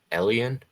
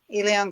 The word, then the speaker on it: Elian: Perth says, Elian, is that how it's pronounced? Elion, yeah. Elion, okay.